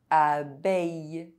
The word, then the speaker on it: abeille: EIL and EILL are pronounced A. Soleil. Conseil. Abeille. Bouteille.